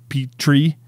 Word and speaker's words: Petrie: Petrie's, yeah, the pterodactyl, but I think like just the way you say Petrie is like, it's like you pronounce the P, it's like Petrie, like petit.